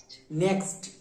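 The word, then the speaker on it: next: তাহলে আমি একটা ট্রান্সলেট দিচ্ছি তোমরা এটাকে করো দিয়ে আমি জিজ্ঞেস করে নেব চল চল বলো এন ই এক্সটি এর উচ্চারণ কি হবে নেক্স আচ্ছা আচ্ছা দেখ এখানে আমাদের উচ্চারণটা হল নেক্স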